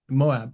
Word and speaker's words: Moab: Now, Moab, is that how you pronounce it? Moab.